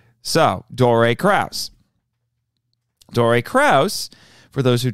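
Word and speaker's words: Dore Kraus: his name properly I'm glad to say so Dory Krauss Dory Krauss for those who don't know actually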